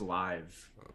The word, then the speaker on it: Liv: it's main investors like live golf or something like that and they like pronounced live whatever live golf and then like i was just kidding liv golf and then like all